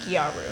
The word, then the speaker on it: gyaru: I don't want to say it Gyaru? Gyaru.